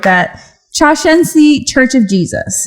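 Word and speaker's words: Shincheonji: And if you want to hear how to actually say it one time at the top, this is how you say it. Shushenshi.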